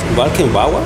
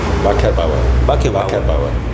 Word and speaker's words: Wackerbauer: Walkenbauer? Wackerbauer. Perfecto. Con el acento en la A.